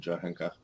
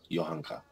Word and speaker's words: Johanka: messed up situation with johanka yohanka yohanka we're gonna say it properly and he wants to